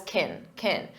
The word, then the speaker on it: can: When it's an auxiliary verb, we pronounce it as kin, unstressed, because the main verb is what you hear, play.